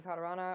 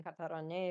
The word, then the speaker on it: Katarane: You can also call me Katarana, or you can call me Katarane if you want to say it properly.